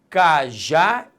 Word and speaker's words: cajá: Cajá e casa. Primeiro passo para eu acentuar uma palavra, qual é? Descobrir a sílaba tônica. Quando eu falo cajá, repare que a sílaba tônica é a última.